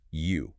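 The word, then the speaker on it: 鱼: Okay, so Marco explains that in the Chinese language, the word for fish is pronounced you.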